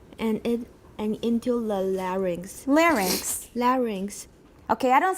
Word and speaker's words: larynx: old pronunciations from before so in the in the midwest we say larynx we don't say larynx okay in midwestern we